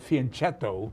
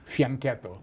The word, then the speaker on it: fianchetto: We know a lot of players who pronounce it fianchetto, Mm-hmm. but let's correct all these players who are watching and say pronounce it like a true Italian would, fianchetto.